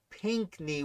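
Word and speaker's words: Pinckney: got the reads uh pinkney we did it's pink like the color knee tough uh borum yeah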